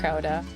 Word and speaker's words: Gouda: Gouda. I'll try. But yeah, no, I have a soft G. It's Gouda down here.